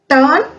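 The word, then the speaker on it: turn: टर्न घूम जाना। यहां पे आर जो है वो साइलेंट है।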